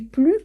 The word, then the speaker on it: plus: Et notez bien, comme je vous ai expliqué déjà, on ne prononce pas le S de plus quand on est sur une comparaison qualitative et non quantitative.